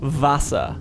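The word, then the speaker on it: Wasser: For example, water sounds more like vasa. So like the W sounds like it's more like a V in English. Vasa.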